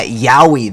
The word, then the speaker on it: Yowie: ftk a first turn kill loop with uh yowie that is the actual pronunciation of this card uh don't look it